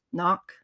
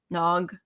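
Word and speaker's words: nÓg: The Sin Onwin, and so that the land of Tir Na Noc is, or depending on where you are in the UK, it might be pronounced Knock, Nog, Tir Na Thuin, Magmal, Avalon.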